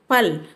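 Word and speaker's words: पल: example இப் இட் இஸ் பல் means we shouldுட் சே பல் பார் ல we shouldுட் keep dot அண்ட் சே இல் சே ப ல பல் சி ஃப ல ஃபல்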